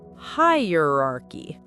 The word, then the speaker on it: hierarchy: Then uh very quick and soft almost like uh when you're thinking. Then roar like a lion's roar but softer. Raar. And finally key like a key that opens a door. So hierarchy.